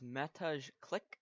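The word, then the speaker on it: Mateusz Klich: The next player up is Matej Klik, I believe is how it's pronounced.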